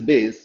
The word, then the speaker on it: bass: No, Satyam, that is not, that is called, pronounced as bass, but the spelling is BASS. Okay, in music. So bass of course correct answer, but bass in music is BASS.